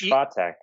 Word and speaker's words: Swiatek: How do we pronounce her name? You guys were on that last week. What was it? It's Swiatek.